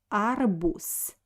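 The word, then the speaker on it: арбуз: adding our boots so we write letter the but pronounce it like s arbus because uh at the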